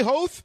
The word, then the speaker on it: Hoth: And did I say Hoth? Okay, yeah, that's the Lucas pronunciation, actually.